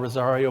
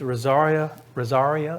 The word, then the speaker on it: Rosaria: And it's Rosaria, I'm saying it right, Ellen? Rosaria Butterfield? I think that's correct.